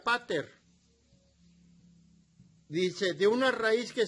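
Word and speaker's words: πατήρ: padre que significa padre la palabra padre en el idioma griego se pronuncia pater dice de una raíz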